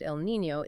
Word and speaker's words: El Niño: And for those maybe a little newer to atmospheric science, El Niño, pronounced El Niño, is a warming of the equatorial Pacific, but it has these massive teleconnections to the Atlantic basin.